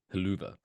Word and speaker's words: Helluva: When I heard Michael Cole call it the haluva kick, is it just supposed to be the hell of a kick, but they're pronouncing it differently, like you would call Target Target?